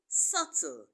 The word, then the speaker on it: subtle: Dum is silent the the uh B in subtle is also silent but the b in